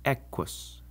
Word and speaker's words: equus: In Latin, just like in English, the Q is always followed by a U. And in this situation, the U never counts as a vowel. It's just part of the Q. So it's quis and equus.